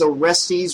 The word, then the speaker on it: Orestes: good God she thought was orestes rhymes with testes back already apparently his